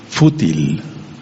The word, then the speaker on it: fútil: Y hay una palabra que se llama fútil, con acento en la U, fútil.